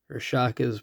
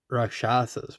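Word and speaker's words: Rakshasa: Rashaka's bargain. Yeah. Rashasa's bargain that's how you pronounce that yathan tombguard a dragon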